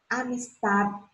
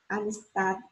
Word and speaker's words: amistad: Amistad, amistad. Felicidade, felicidade. Olha só, o D é um D mudo, mas ele é pronunciado de forma leve e relaxada.